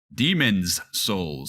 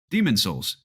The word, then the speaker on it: Demon's Souls: I'm more on board for horizon forbidden West demon's souls side no Jacob and I have been laughing